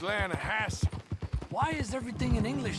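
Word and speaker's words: Lannahechee: The The Lanahechee. It runs right near here. Yeah, but it's pronounced Lana Hassy.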